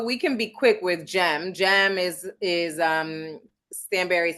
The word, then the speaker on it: Cem: can be quick with jeem jeem is is um Stanberry ex-husband a Turk that's why you spell it cem and pronounce it gem um and I don't